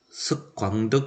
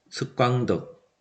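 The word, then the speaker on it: Thích Quảng Đức: 이게 이제 석광덕 선사죠. 베트남 발음으로 탁광특이라고도 하던데요.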